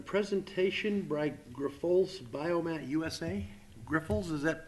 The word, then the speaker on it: Grifols: your name for the record and could you pronounce that is it right or not uh Grifols yes sir so my name is